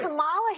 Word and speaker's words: Kamala: Let's start, lefties, with this almighty group meltdown on CNN because Nancy Mace allegedly mispronounced Queen Kamala's name. Watch this demented carry-on. And Kamala Harris, if I were You said I will say Kamala.